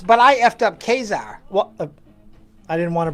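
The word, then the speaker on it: Ka-Zar: head it was it never was Kaiser I don't see why in that but you know to eat your own the creator said kazar so that's what here's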